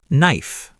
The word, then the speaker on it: knife: Let's start with silent K before N. Know, not canoe. knife knee knock Silent B after M or before T.